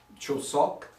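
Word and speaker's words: 추석: My pronunciation is going to be off, but Chosok, I believe is the way you pronounce it.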